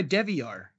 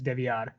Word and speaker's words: DeVillar: oh but it's like if you really want to get like Hispanic with it like that is technically the correct pronunciation is devad you mean it's not